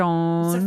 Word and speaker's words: Dordogne: And then Dordogne. Oh, I said it right, I think. It's a Dardon. French game. Dor Dardonia. Oh, the Dordogne.